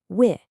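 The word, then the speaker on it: وِ: So this one is pronounced wi, just like the sound you hear in wish, wi.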